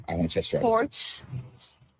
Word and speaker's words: Porsche: It's a German company. It's Porsche.